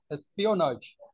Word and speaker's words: espionage: any informance suspected of Espionage no no Espionage Espionage you have not no no not jaw your pronouncing ja it is espionage Espionage Espionage something was